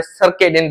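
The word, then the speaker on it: circadian: उसके बाद और क्या बात करें हम, सर्काडियन रिदम। सर्कैडियन, पिछली क्लास में सर्काडियन बोल रहा था मैं, सर्काडियन, तो सॉरी यार, सर्काडियन नहीं होता, सर्केडियन बोलते हैं।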